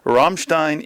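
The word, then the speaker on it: Rammstein: finished watching the Ramstein pronounce it properly Ramstein in America documentary and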